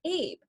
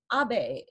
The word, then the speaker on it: Abe: the speech was that he kept calling the Prime Minister of Japan Prime Minister Abe, when the general and common pronunciation of the Prime Minister's name is Abe in Western cultures.